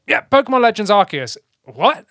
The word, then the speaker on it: Arceus: But, I mean, obviously it started with us playing Arceus. Yeah. Or Arceus, as some of you Americans say. No, what is that about? No, like, it's Arceus. Arceus. It's just we're wrong. We're not talking about our asses. Right? No, exactly. It's Arceus.